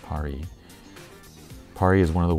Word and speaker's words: Pari: Pari Studio, pronounced Pari.